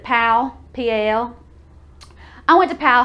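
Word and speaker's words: Powell: p oh w.e.l.l but we pronounce it pal PL I went to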